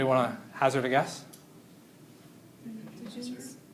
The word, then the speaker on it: pnictogens: Pictogens? It's a loud P. It's pronounced. Pictogens? I'm lying. It's not pronounced. These are the pnictogens.